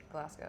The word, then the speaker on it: Glasgow: Is that how you say it? Glasgow, yeah, like Glasgow. Scotland.